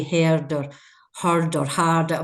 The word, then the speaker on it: Hird: Am I pronouncing it correct? Hird? Yes, Hird.